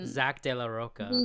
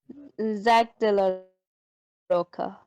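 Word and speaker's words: Zack de la Rocha: Yeah, that's Zach De La Roca, I believe is how you say his name. Yeah, Zach De La Roca.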